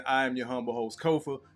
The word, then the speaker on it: Kofa: Once again, I am your humble host, Kofa, K-O-F-A. Not coffee, not kufu, not Kofi, or any variation thereof. Kofa rhymes with sofa. Easy to say, easy to spell.